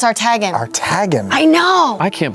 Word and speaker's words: Artagan: Artagan's how you pronounce it? I know. I thought it was Artigan. Yeah. But no, I heard Matt saying it's Artagan.